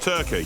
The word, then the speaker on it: Torquay: I went to Torquay. It's pronounced Turkey. Down in Devon. Oh, Torquay!